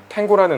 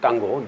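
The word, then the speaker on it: tango: 저 잘 몰랐었는데 그 탱고라는 음악 그리고 에버 탱고라는 음악이 클래식 고전 음악에서 이뭐 변주되는 형태인지 어 탱고 이제 고라고 해야 되겠죠 땅고 예보 땅고 어 탱고는 뭐 이제 영어식 발음이고 노예 고라고 이렇게 우리도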